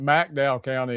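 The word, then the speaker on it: McDowell County: Uh, I grew up in Mcdow County, Mdow County, as it's pronounced locally in Jerger.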